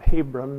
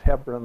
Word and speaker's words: Hebron: Hebron, we call it Hebron mostly, but it's pronounced Hebron there.